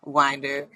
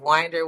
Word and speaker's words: Winder: Today, we're joined by Dia, or Danielle, aka Dia Winder of Winder Wealth Management. It took me so long to get that right because I used to say Winder, but it is Winder, okay? Say it right.